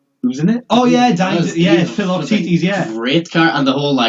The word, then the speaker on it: Philoctetes: Apparently it's pronounced Philoctetes as well, how you'd learned in my Greek module.